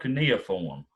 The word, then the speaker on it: cuneiform: dictation b cuneiform or see nothing it's called cuneiform we have a winner number three how many